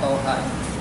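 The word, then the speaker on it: طه: situ baik silakan Pak ini kan gak ada alifnya tetapbaca panjang P Thaha Iya Thaha Iya dia tetap panjang Thaha seperti itu biasanya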